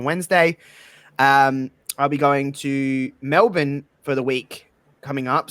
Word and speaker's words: Melbourne: So it's Melbourne. You just say it really fast.